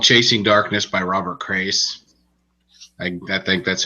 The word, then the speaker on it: Crais: chasing darkness by robert crais i think that's how you pronounce his last name it's like Craig but an S instead of a gee I'll sure and it's